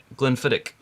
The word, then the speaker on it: Glenfiddich: all right that is the CH on the end is actually um if you know if somebody was being you know Petty or they would say Glenfiddich so it's a soft can it fit a little like if you were if you were to see lock but what happens if